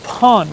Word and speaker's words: pont: about reading French uh basically we don't pronounce the last letter of words this so it's Pon right p because I